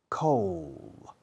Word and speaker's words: coal: Coal. Que es frío, sin la D es coal, es carbón.